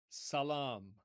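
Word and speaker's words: سلام: But notice how in Hebrew, the first S becomes a sh. So S in Arabic, sh in Hebrew, and the long a vowel in Arabic becomes a long o vowel in Hebrew. So it's essentially the same word just with a different pronunciation to fit their respective languages.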